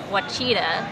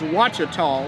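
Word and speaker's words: Ouachita: in the u.s this one i would have pronounced it what cheetah and it is watcha tall which is in north north louisiana we mentioned north louisiana so that one's in north louisiana wachotom and then the last one here this is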